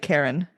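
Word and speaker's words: cairn: into a um a Karen tunnel. And a Karen is like it's spelled C A I R N I believe, right? But pronounced almost like Karen.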